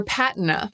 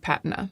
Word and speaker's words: patina: As for patina, it can be pronounced either way. Patina. Do you hear this? This is the Google pronunciation bot giving the British pronunciation of patina. Patina. Patina.